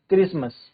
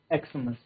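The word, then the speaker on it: Xmas: बट इट is usually pronounced eight क्रिसमस। इसको हम क्या है? क्रिसमस ही प्रोनाउंस करते हैं। नॉट एक्समस।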